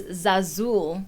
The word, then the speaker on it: Zazul: And we actually got a comment here about how to pronounce the restaurant. It's Zazul. It's not Zul.